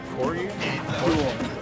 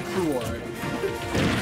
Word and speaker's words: Cruor: Cruor. Cruor? Cruor.